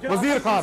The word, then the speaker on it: Wazir Khan: Wazir Khan, yaar, you keep saying his name wrong. Wazir Khan.